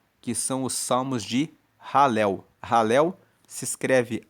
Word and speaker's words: Halel: grupo de salmos, que são os salmos de Halel. Halel se escreve H A L E L. E ralel é o que dá origem à palavra aleluia, que significa louvai a Deus.